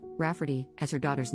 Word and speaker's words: Rafferty: I tried to explain that no one will pronounce that as Rafferty and she'll probably get plenty of the same misprononunciations.